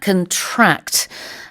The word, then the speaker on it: contract: 동사일 때는 병에 걸리다, contract. The stress is on the second syllable. 그렇지만 명사일 때는요, 우리 계약서 라는 뜻으로 강세가 첫 번째 syllable에 있죠.